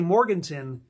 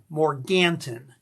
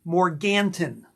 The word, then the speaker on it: Morganton: And that's how they pronounce it. If you go there and say Morgan, they know you're not from around there. It's actually Morganton.